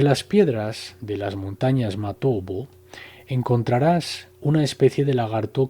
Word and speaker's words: Matobo: de las piedras redondas, Matobo, pronunciado erróneamente Matopo, en Zimbabue.